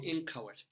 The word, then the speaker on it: inchoate: The definition of inchoate, and it really is, if you see the phonetic spelling, it's in K-O, and then the schwa T, with the accent on the ko.